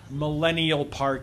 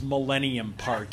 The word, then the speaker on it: Millennium Park: okay uh for example it's not Soldiers Field it's Soldier Field it's not Millennial Park it's Millennium Park it's not go street